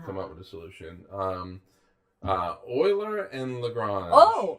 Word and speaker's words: Euler: It'd be great if he was like An oil man. An oil man. Euler the Oiler. Euler, yes, founder of the Oilers.